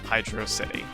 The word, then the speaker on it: Hydrocity: implies that through through emphasizing the Oh sound and hydro instead of making it I draw it implies that yes it's meant to be pronounced hydrocity and the reason that's